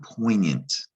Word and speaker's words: poignant: french it's the word poignant okay it's pronounced we use it in english but pronounce it the way they pronounce it french and the tricky part is this g you don't hear it poignant seems like it should